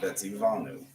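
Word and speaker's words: וְצִוָּנוּ: I would double my V there. Vetzi Vanu. I pronounce them together as if they're one, but Vetzi Vanu.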